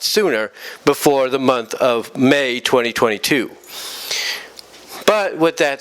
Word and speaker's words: Mei: So, the ending of the story series currently, had May, that's M-E-I, May, demonstrate to her friend Zahara,